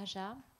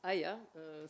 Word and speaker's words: Aja: On va passer maintenant à Aja, donc à Worldlia. Bonjour. Alors, ça se prononce Aya.